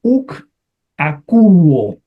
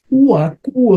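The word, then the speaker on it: οὐκ ἀκούω: Uakuo sería un poquito más difícil, entonces le ponen ukakuo.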